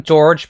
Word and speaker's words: Georg: I just call him George because that's how it's pronounced in the English version of Suikoden 5, so I think most fans are familiar with George instead of Georg. But in my heart, it's Georg.